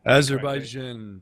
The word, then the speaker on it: Azerbaijan: be Slovenia versus Azerbaijan, if I can pronounce that. Azerbaijan, brother. Azerbaijan. That's it.